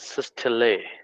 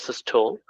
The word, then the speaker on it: systole: terminology is called as systole. In other pronunciation it is also called as systole, but the systole is the pronunciation in British.